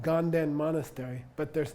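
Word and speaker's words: དགའ་ལྡན: And ga, nden, monastery. But it comes out ganden.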